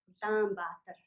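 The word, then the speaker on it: Улаанбаатар: Number 2, if there are 2 long vowels in a word, the first long vowel is pronounced long and the following ones are pronounced short. For example, Ulaanbaatar, Ulaanbaatar, not Ulaanbaatar or Ulaanbaatar.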